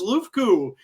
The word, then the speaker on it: LUFKU: So this is LUFKU. I want to make sure I'm pronouncing that right.